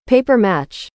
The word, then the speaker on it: papier-mâché: Regina and Beth are here with their giant robin made out of some strange material the audiobook calls papier-mâché. God, but Google has instructed me to pronounce it paper match.